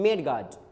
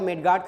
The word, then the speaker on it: मडगार्ड: अगर देखा जाए तो अक्सर लोग कहते हैं मिड गार्डन मेरे साइकिल का मिड गार्डन खराब है पापा मुझे पैसा दे दीजिए मुझे अपने मडगार्ड को चेंज करवाना है ऐसा लोग कहते हैं जबकि इसका उच्चारण इसका प्रनंसीएशन मिड गार्डन ना होकर मडगार्ड होता है तो इसमें आपके